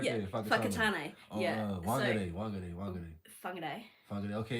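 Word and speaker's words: Whangārei: It's When you look at a w h, nobody thinks, "Oh, that's going to come out as an f."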